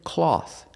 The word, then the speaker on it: cloth: Pronunciation, cloth. Cloth, using the aw sound like ball and call. Aw, aw. Cloth. And the th with no voice, just air.